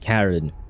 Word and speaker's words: Charon: I mean, Charon is not actually Charon. Karen... oh, it's supposed to be pronounced Karen, I guess.